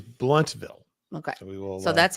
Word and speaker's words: Blountville: so saying blunt no Sharon said no Sharon yeah she said BL but then now she's saying blunt got okay now okay so we got it now so we got it is bluntville okay so we will